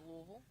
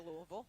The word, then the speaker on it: Louisville: at the University of Louisville nice deep return there I always feel like you didn't go to Louisville I always feel like you're swallowing the wood when you say Louisville that's because I'm a